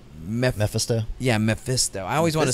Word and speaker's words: Mephisto: say the guy's name meh meh festa yeah Mephisto I always want to say Memphis eat oh that's how i pronounced it in my head as a kid mmm Mephisto yeah and there is a time in the